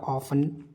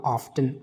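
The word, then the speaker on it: often: Last word we have is हाउ ऑफन या हाउ ऑफ्टन, both pronunciations are correct.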